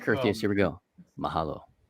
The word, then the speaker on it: mahalo: Mahalo.